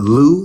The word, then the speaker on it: Lew: Uh Lou, like Lewis.